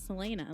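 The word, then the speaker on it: Celaena: It's Selena. Like Selena Gomez, but with Selena.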